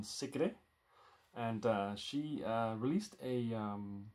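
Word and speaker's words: Sigrid: region singing called secret or as it is pronounced in Norwegian secret and she released a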